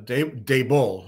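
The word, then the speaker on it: Daboll: well I think uh Brian dabel is uh Dave bull that's how you pronounces it um uh it gives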